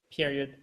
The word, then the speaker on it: period: Question mark, period, comma. OK? Et là, vous avez une petite accent, enfin, vous avez l'accent tonique sur le E de period et c'est un I court.